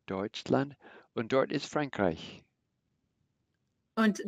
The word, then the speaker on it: Deutschland: The EU has a similar sound like oi, Deutschland.